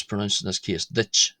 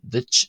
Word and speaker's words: duit: The second D in ditch ditch is adjacent to the broad vowel U and the T at the end of ditch ditch is adjacent to the slender vowel I.